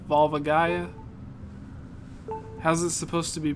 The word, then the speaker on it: Volvagia: pronouncing is so wrong so it's not volia Vol Vol Gia volvagia how's it supposed to